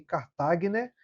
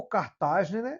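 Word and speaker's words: Kartagener: tem uma síndrome chamada síndrome de Cartagner ou cartagen, dependendo da sua pronúncia aí.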